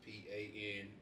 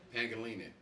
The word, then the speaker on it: Pangelinan: That's PANGELINAN. Oh damn! I butchered the name. So say it properly. Pangelinan.